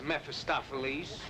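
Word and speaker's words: Mephistopheles: you gone mad that's how it is mephistophiles at last the proper pronunciation how long have you known I guess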